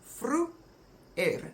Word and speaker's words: vroeër: So that word is divided into vroe and then vroeër. And it becomes vroeër, vroeër, vroeër. And if you pronounce it quickly, vroeër.